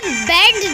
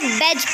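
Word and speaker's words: badge: Rule: D is silent before G. हम इसे बेड नहीं पढ़ेंगे, हम इसे बेज पढ़ेंगे।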